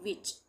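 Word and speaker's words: witch: विच में भी डब्ल्यू आई टी सी एच टी सी एच एक साथ आ रहा है तो इसको हम पढ़ेंगे विच टी का उच्चारण नहीं होगा एफ ए एस टी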